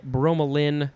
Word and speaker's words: bromelain: Next we have bromelain or bromelain, B-R-O-M-E-L-A-I-N. Could also just be bromelin with an L-I-N at the end.